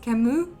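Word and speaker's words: Camus: recorded this video chemist kamu I think it's Camu because he was French um but it was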